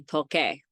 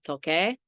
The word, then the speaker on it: toque: That's why we make the C into a Q and add a U, because the U again is silent. So for example, tocar, to play, whether it's an instrument or tocar isn't to touch. So the yo form would be toque.